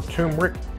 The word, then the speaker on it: turmeric: other toxins number three turmeric or tumeric I hear people pronounce it both ways but I'm pretty sure it's turmeric in addition to its